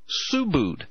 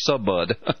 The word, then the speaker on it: Subud: she was deeply tied to a cult called Subud and it's spelled suu bu u d it looks in in English it would look like it would be Subud but it's pronounced Subud this cult originated guess